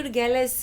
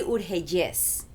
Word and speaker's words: Urgelles: So I say Urgelles here because that's how most people pronounce it in America, but it's really Urgelles. Urgelles. So it's very and it has an accent at the end. Yeah, because of the double L's.